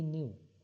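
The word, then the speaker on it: knew: ही न्यू वह जानते थे मतलब राघव जानता था।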